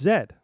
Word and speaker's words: Z: No, it's Zed. Z sounds cooler. It rhymes because we didn't invent the song.